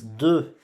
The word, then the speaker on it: deux: The next one is deux. Deux. So you see, we have an X here at the end, but we don't pronounce this X, okay? This X, it's silenced, so we pronounce deux.